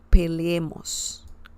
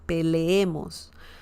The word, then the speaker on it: peleemos: It's like when you say leer. Leer means to read in Spanish. So similar pronunciation, peleemos, peleemos. Leer, leemos, peleemos.